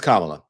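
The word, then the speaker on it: Kamala: okay so listen they know her name is kamla uh and I think that um Joe and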